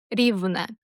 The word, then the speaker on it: Rivne: Riven Riven stress on that first syllable. Rivne's name is all about geography. It comes from the word Riven, which means flat or level.